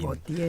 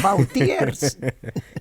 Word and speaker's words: Vauthier: Botier. Pocas veces te deben pronunciar así el apellido. Así es un lujo. Muy bien. ¿Qué dirían? Bautiers.